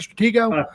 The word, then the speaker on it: Stratego: of that song stretch stratego here's how you pronounce that stratego thanks man uh that song and we're also